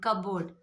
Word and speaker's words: cupboard: And cupboard. First word. Cupboard. If you see in cupboard, P is silent, not cupboard.